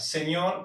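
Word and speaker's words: senhor: Se pronuncia igual, pero se escribe diferente. En español escribimos señor. La en portugués no existe, por eso se escribe de esta manera. Su pronunciación es igual, Señor, cualquiera de las dos, con alegría.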